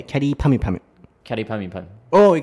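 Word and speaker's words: きゃりーぱみゅぱみゅ: Yeah, but the English pronunciation is like carry, like carry bag. Yeah. But can you say in a Japanese way, carry pami pami?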